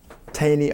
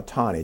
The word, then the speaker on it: Taney: Plus, you had a Supreme Court justice by the name of Roger Taney or Tawney, depends upon how you want to pronounce it.